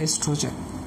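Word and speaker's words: oestrogen: ठीक है, किसी किसी बुक में ओ से स्टार्ट होता है, ओ इज साइलेंट, वो स्पेलिंग भी करेक्ट है और जो मैंने अभी आपको लिखा के दिया है this spelling also correct, एस्ट्रोजन।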